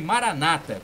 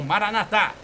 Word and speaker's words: Maranatá: Os protestantes dizem Maranata, com a acentuação, né, a tônica na penúltima sílaba, mas os católicos falam Maranatá, com a tônica na última sílaba.